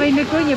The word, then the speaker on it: Оймякон: Это в Оймяконе будет. В Оймяконе? Да. Это Оймяконе, это Оймякон. Оймякон. Оймякон. मैं अब तक प्रोनाउंस कर रहा था ओमियाकोन, लेकिन एक्चुअल में इसका नाम है ओमियाकोन।